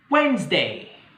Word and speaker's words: Wednesday: Wednesday. لاحظوا بأن D في Wednesday is silent، يعني تكاد لا تسمع، يعني ما كتنطقش.